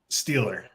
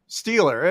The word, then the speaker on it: Stiehler: with my friend styler right is that the right way to pronounce his last name steeler steeler it is like steeler like like pittsburgh all right just spelled differently all right well how